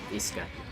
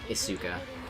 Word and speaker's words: Isuka: You don't pronounce the U, it's like Daisuke. Okay, seems like everybody's in agreement that it is, like, Iska, not, Isuka.